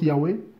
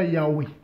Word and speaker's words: Yahweh: Bon, je prononce Yahweh.